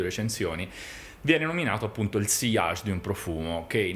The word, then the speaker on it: sillage: Che non si dice sillage, ma si dice sillage in francese. Come la doppia L si legge come una J.